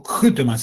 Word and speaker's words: Vkhutemas: QTMAS, o QTMAS en realidad, porque se pronunciaría como una especie de K con J, era una palabra compuesta